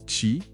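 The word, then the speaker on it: qi: Le chi, on prononce chi, c'est ça ?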